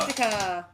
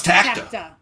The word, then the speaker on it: Tacta: Tactica. No, it's Tacta. That's why I got it wrong. That's why I wrote it in my notes wrong. I added a syllable.